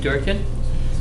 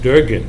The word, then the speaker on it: Durgan: Next on the agenda, we have a guest that had asked to get on the agenda, Durkin. Durgan. Durgan. Durgan, sorry, I'm off on names.